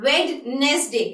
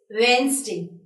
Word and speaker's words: Wednesday: Fine, it is not Wednesday, it's Wednesday. It's Wednesday. So when you'll be pronouncing this word, you'll be avoiding this D word and you'll be pronouncing as Wednesday.